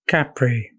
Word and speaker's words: Capri: is the island of Capri Capri is the proper pronunciation Italian it's an island off